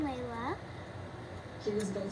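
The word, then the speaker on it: Leila: And it's called, the TikTok we have is called Overtime Layla. And Layla is spelled L-E-I-L-A.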